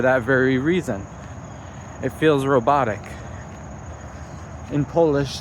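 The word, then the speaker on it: robota: It feels robotic. In Polish, the word job is is pronounced uh robot, which is just an accent put on the word robot.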